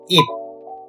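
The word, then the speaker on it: 입: With the E plus P sound, it becomes ip. The right one is leaf, would be E plus P, ip. They both have the same pronunciation, but same as the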